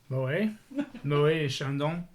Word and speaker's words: Moët et Chandon: So Sam, who's our French guy, pronounce Oh, the yeah. name of that champagne. Moët et Chandon.